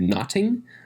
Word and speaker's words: nothing: from shakespeare's day uh would have been pronounced a little closer to notting without the h there which meant uh it's